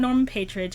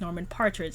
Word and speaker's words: Norman Partridge: this book last month it was not norman patridge it's norman partridge i apologize i didn't